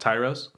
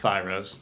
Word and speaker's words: Tyros: fusion Euro spot called Tyros. It's not Thyros for you fucks out there.